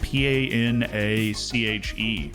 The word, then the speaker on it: panache: all right word of the day hanash p-a-n-a-c-h-e Panache panache I've been mispronouncing that word my whole life panache got